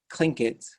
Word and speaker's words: Tlingit: internet and you type let's learn clink it but you spell it c-l-i-n-c-k-e-t good luck remembering that